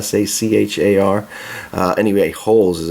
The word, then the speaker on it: Sachar: as by Louis Sachar I think is the way you pronounce his name si si har and you make holes